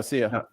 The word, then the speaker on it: Sia: remember how to pronounce it but it's sia but she oh see ya yes i just i don't